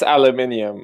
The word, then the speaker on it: aluminium: So you just pronounce it wrong. We call it. It's aluminium and No, enough about this.